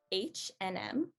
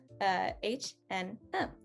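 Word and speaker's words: H&M: and m uh again since that and sign is in the middle we've normally just like smushed it into the rest of the words so it just becomes an n like eminem h and m h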